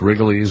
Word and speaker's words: Rigolets: It's pronounced Wrigley's, whatever.